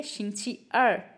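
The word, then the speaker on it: 星期二: तो इसलिए ये है शिछ अर शिंगची अर अर जो है वो फॉलिंग टोन से है शिछ अर अर अर मींस शशि अर मींस ट्यूसडे।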